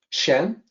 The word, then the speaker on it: 善: Here's the pinyin. It's pretty close. Shan, san is the actual Mandarin pronunciation.